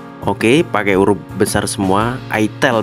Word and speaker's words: itel: Itel bacanya, bukan Itil guys.